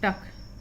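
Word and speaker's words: duck: What is that, वह क्या है, that is अ डक। यू का उच्चारण यहाँ पे आ के रूप में, सी साइलेंट और के का उच्चारण, तो इसको हम पढ़ेंगे डक। That is अ डक।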